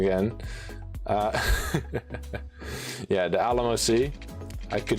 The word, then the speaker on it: Alamo Sea: I have learned to pronounce how to say the Alamo Sea. The Alamo Sea. In this, and don't mention it though, because I will say it wrong again. Yeah, the Alamo Sea.